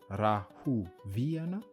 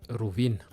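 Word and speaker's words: Rahoviana: Petite remarque, Rauvin se prononce bien Rahuviana. Mais dans la vie de tous les jours, on peut dire aussi Rovin.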